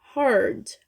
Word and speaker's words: heard: Is heard. Heard. Uma sílaba só.